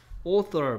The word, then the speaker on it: author: author 본 적 있어? author? author? author가 뭐하고 같은 뜻이다? 작가 발음이 뭐라고요?